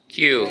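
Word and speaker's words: 九: Number 3 in Japanese is pronounced san, and number 9 in Japanese is pronounced Q.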